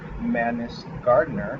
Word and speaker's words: Mannis-Gardner: guest I'm excited to bring you guys madness gardener hope I'm pronouncing your name correctly it was perfect thank